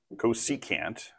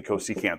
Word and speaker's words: cosecant: said we've got some cousins here this is pronounced cosecant technically cosecant Theta because that's the Greek letter that we're